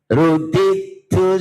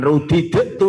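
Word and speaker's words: رُدِدْتُ: dioco godawati 36 rudit Rudidu idgam mutajan tam sempurna ruditu silakan ruditu heeh ruditu he wis langsung ruditu berarti yo dale lebur total masuk ketak ruditu bukan rudidu lho ya ko nek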